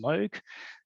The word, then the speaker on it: Moog: just point out that in English the company name is pronounced Moog in Japan it's smug